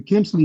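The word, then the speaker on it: Khmelnytsky: Now, 1648, the Kimley massacre. And I know I probably booted that, so I'mma spell it for y'all, too.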